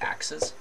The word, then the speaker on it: axes: So we call these axes, which is spelled exactly like axes, but pronounced axes. And individually, you just replace the e with the I, right? So axis. Usually we call them these